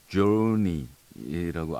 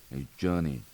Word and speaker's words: Journey: 하는 그 저니가 아니기 때문에 그 조니라고 R 굴리지 마시고요. 조니.